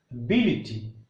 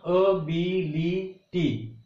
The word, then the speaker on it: ability: When words end with ity, the stress goes on third syllable from the last.